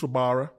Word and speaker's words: Wabara: So there's a player called Reece Rabara. Reece? It's pronounced Rabara, but it's spelt with a W. Okay. So it's Wabara.